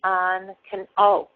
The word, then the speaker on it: on: In my area, on can be pronounced 2 very different ways. Okay, I say on, ah. So the O makes the ah sound.